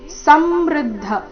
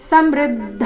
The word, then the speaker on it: ಸಮೃದ್ಧ: ವಿಷಂತಿ ನಾಶಾಯ ಸಮೃದ್ಧ ವೇಗಾಹ ಸಮೃದ್ಧ ಇಲ್ಲಿ ಸಮೃದ್ಧ ಈ ರೀತಿ ಬೇಡ ಸ ಮೇಲೆ ಆಘಾತ ಬರಕೂಡದು ಮೃ ಮೇಲೆ ಆಘಾತ ಬರಬೇಕು ಸಮೃದ್ಧ ವೇಗಾಹ ಮುಂದಿನ ಚರಣ ನೋಡುವ